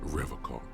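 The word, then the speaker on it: Revachol: pronounces Revocol with a hard K, unlike So, other people. Revocol? I like to pronounce it the hard way. The old way. The Vespertine way.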